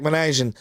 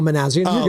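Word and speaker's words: Minasian: They do have Zach Manajan as the GM. He's the eye. And then you have Buster's own IQ. I didn't say his name right. Well, no, Manazian.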